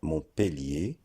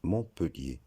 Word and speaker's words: Montpellier: Soit Montpellier, à cause de la double lettre de L, et comme le dit la règle, lorsqu'il y a une double consonne après le E se prononce E. Soit Montpellier. La bonne prononciation, c'est Montpellier. Il faut savoir que les deux prononciations sont correctes, mais la plus courante, c'est Montpellier.